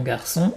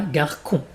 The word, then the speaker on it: garçon: Et le CCD, pour garder le son S, comme le serpent, souviens-toi. Garçon et pas garcon.